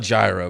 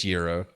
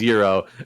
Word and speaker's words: gyro: How do you pronounce the delicious Greek sandwich? Oh, it's some people call it gyro, but it's gyro. So I completely agree with you. It is gyro, and I always like get into arguments with